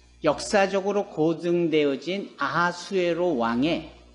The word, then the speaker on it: 아하수에로: 아하수에로. 성경에는 그 이름을 그렇게 히브리적 발음 기호로 표현을 해요. 아하수에로.